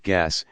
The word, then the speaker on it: gas: in a chaotic form the Flemish pronunciation for chaos sounds like gas and thus the word was born earth this is accomplished